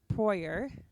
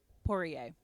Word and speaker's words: Poirier: First popularized by Anne Proyer. Oh, I definitely said that wrong. First popularized by Anne. Wait, let me check. Hold, please. Pronunciation. Poirier.